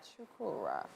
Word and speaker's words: Chukwurah: Oh, Finally, on the couch with us is actor, producer, and writer Tonia Chukwurah.